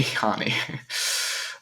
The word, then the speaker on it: Hani: Not Tommy, Hani.